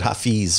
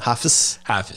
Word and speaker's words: hafiz: say that hafiz hafiz i always said hi fees but is that office yeah office okay yeah and so i'm